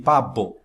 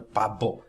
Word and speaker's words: pavo: Mas quando um espanhol, quando um latino pronuncia as palavras abanico e pavo, já o som já não é abanico nem pavo, não é pavo, é pavo, abanico.